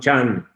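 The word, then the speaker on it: จันทร์: Just like Monday, it is written one Chandra, one means day, one Chandra, moon day, Monday, but they pronounce one Chan.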